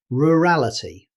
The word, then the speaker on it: rurality: And finally, our last challenge word, rurality. In British English, rurality. But in natural speech, the middle vowel may become very weak.